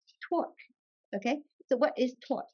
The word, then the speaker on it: torque: Torch? Torque.